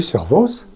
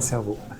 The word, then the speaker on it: Servoz: Comment on prononce? Servoz? Oui, Servoz. Bon, pas cerveau.